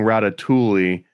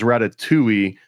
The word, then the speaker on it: Ratatouille: a good one no I can detect that you are emphasizing or at least pronouncing the L like you're saying ratat Tuli and I guess I've always heard it and said it as Ratatouille almost as if the